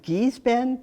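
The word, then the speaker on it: Gee's Bend: and then there's the I think it's pronounced geese Ben g-e-e apostrophe s this was like some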